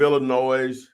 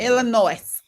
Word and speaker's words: Illinois: Okay, so depending on the state you're in, if you're in the state of Illinois, I'm sorry, there's no S. There's no sounded S. S is silent. Illinois.